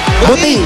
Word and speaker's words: Buting: buting o buting buting buting parang mabuting ina mabuting ama buting mabuting lugar yan parang siting butingting ay Barangay mab Barangay buting Hwag kayong magulo ha